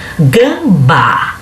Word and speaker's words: gambá: Gambá. Gambá, se você olhar de trás para frente, a primeira sílaba de trás para frente vai ser a mais forte, que é o bá.